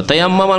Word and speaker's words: তায়াম্মুম: আর এই তায়াম্মুম করাকে আমাদের দেশের আবার বিকৃত ভাষায় তয়ম করা বলে, শুনেছেন না? তয়ম করা নয়, তায়াম্মুম করা, শব্দটা একটু উচ্চারণ করতে কঠিন।